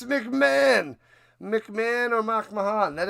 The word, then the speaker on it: McMahon: Mach Mahan, you love that, Mool. Mach Mahan. It's McMahon.